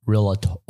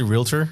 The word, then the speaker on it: realtor: of the realator group I got somebody sent me a hate comment when I I could you say realtor yeah they're like you don't even say it right and uh I'm like